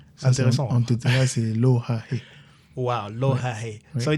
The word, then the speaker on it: Lohahe: C'est comme ça qu'il prononce ça, Lohaé? Lohaé. Lohaé. Oui. C'est intéressant. En Tétera, c'est Lohaé.